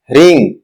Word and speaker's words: ह्रीं: अंग्रेजी वर्णमाला के अनुसार, आपको Aing का उच्चारण A-E-I-N-G की तरह करना चाहिए। मतलब, ऐंग. ह्रीम, एच-आर-ई-ई-एन-जी, ह्रीम, क्लीम, के-एल-ई-ई-एन-जी, क्लीम।